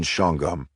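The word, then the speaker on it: Shawangunk: Actually, Tara, we Hicks up here pronounced the prison shongum.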